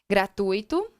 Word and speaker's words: gratuito: Letra C, gratuito, intuito, mascote, compasso. Preste bem atenção na pronúncia dessas palavras. Não é gratuito e não é intuito. Se eu falo dessa maneira, eu estou modificando o processo de separação.